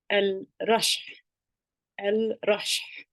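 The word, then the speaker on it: الرشح: flu it's Al Russia if you hear that heavy H sound the Airy H sound so remember like I talked about before if you see them in the cook commercials they say after they drink the coke so think about that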